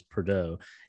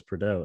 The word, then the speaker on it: Prado: in the episode yeah he says his name is perdo and says his name is well leave it to fred to be a bastard and mispronounce his name because i saw it written online i looked up the name and i noticed that when he said i was like oh it's prado and then right after